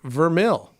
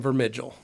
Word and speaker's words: Vermeil: for the Grand Ambassadors, I believe that Leonard Vermeil's last name is pronounced Vermil. Yeah, it is. Vermil. Anthony calls him Vermigel. Okay, yeah, I've heard him say that a lot. It's Vermil. So, but we knew that.